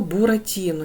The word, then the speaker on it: Буратіно: наголос ми не ставимо наступне слово Буратіно ділимо на склади Бу ра ті но 4 склади вимовте слово щоб почути де в нас буде наголос Буратіно так наголос падає в нас на третій склад Отже третій склад наголошений